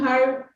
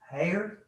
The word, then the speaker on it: Hurd: Dwayne Hurd. Dwayne Hare?